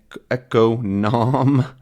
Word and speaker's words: economic: of describing it right we have economy economy economic and economical right so we have da and d da right we just get totally different stress patterns I like to think